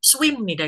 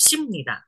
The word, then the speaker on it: 습니다: Memang jarang nggak ada kayaknya orang-orang baca swimnida gitu memang tidak simnida. Bacanya SI biasa, simnida.